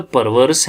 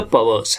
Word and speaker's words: perverse: हम इधर पढ़ेंगे तो परवर्स हैं, PERVERSE परवर्स, लेकिन हम फोनेटिकली पढ़ेंगे, असल प्रोनाउंसिएशन देंगे तो पवर्स है. पवर्स. तो ये पवर्स है.